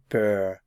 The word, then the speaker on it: peur: in French well Ava bur means fear fear notice the pronunciation AV to produce the sound represented by this symbol here in the IPA try saying ah ah and then round your lips ah remember that you need